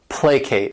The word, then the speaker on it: placate: next verb is placate this word has two syllables and the stresses on that first syllable placate and what it means